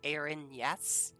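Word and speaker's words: Erinyes: spell that oh here you can also think of it like air in yes e r i n y s yes do we not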